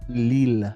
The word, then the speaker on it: Lille: Lille.